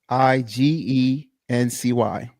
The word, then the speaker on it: exigency: EXIGENCY. Right, that's exigency. Right, that means You know you ain't pronouncing that.